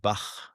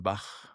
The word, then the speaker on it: Bach: very common let's say the c that you spell it ch like like the musician Bach Johan Sebastian Bach right so that sound in the back of your throat right is very